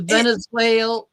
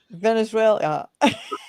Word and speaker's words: Venezuela: Anyway, You're putting Elia at the end of it. It's it, Venezuela. Venezuela.